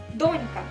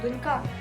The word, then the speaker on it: донька: приклад в нас буде з вами донька наголос ставиться на літеру о ми з вами не кажемо донька Ну ось наприклад Моя